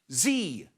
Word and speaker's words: Xi: Next one is Xi, but it's pronounced Z, which is why it's Xerxes or Brexit rather than Xerxes or Brexit.